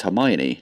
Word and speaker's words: Hermione: It's like people that call Hermione Hermione, because that's how they read it the first time in Harry Potter, in the books. And then the movies came out and they were like, oh, it's Hermione.